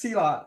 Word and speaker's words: Silat: with the art like what is salot? Am I even pronouncing it right? Yes. Yes. Cellot. And uh it just just an easy way to remember when someone uses it on you. It just hurts a lot.